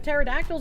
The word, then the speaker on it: pterodactyl: Fun fact, through much research, scientists have recently discovered that you could not hear pterodactyls go to the bathroom. The P is silent.